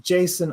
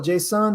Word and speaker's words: JSON: up on a test pronounce it like the serial killer Jason JavaScript object notation it's